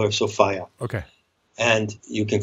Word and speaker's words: Sophia: I call her Sophia. Okay. And you can call her Sophia if you like, but I call her Sophia because it rhymes with desire.